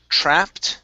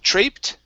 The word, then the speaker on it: trapped: Next up is trapped instead of traped.